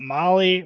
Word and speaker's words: Mahle: Again, Molly is spelled Mahle.